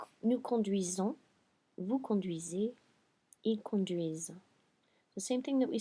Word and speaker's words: conduisent: I have my ENT here that's making me sit on the S and making me pronounce it. So pretend it's an muet. I'm still not pronouncing the ending, but it is making me pronounce this S.